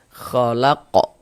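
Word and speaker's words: خَلَقَ: Jadi huruf-huruf qalqalah itu kalau dia sukun, kalau dia sukun, pantulkan cara bacanya. Nah, pantulkan. Nah, khalaqo. Khalaqo. Ah, mantul begitu.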